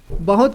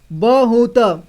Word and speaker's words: बहुत: बाद मैं बोला बहुत तो जब बहुत बोला तो इन सभी को पूरी तरह से उच्चारण किया मैंने ठीक है ब को भी पूरा उच्चारण किया हु को भी और त को भी ठीक है लेकिन यह ऐसा नहीं लिखा है यहां पर इसे बहुत इसे बहुत पढ़ते हैं ठीक है इसे बहुत पढ़ेंगे हम लोग इसलिए यहां